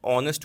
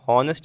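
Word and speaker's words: honest: यहां पे क्या है वो ऑनेस्ट होता है ना कि हॉनेस्ट नहीं ऐसे हम पढ़ते भले इसको हॉनेस्ट है बट क्या है इसमें एच साइलेंट होता है क्या होता है ऑनेस्ट इसे हम पढ़ते हैं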